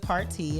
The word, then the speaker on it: Partey: Val Partey, which he pronounces it Party, is actually one of my family members that, honestly, I just now met.